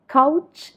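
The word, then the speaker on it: couch: ഇത് നമ്മൾ പറയേണ്ടത് കൗച്ച് എന്നാണ്.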